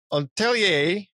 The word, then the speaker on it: Atelier: Atelier, that's how you say it, producer Junzo Hoshi?